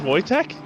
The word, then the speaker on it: Wojtek: ammunition rounds that's right yeah his name was voytek yes that's funny I didn't know that the more you know I don't know if it was spelled like that but it wasn't I also spelled it wrong w-o-j-t-e-k well I don't actually think his name is